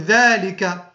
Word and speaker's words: ذلك: وبالنسبة لاسم الإشارة ذلك نفس الشيء، تنطق الذال بالمد ذا ولا تكتب الألف، ذا نقول ذلك ولكن لا نكتب ألفا بعد الذال.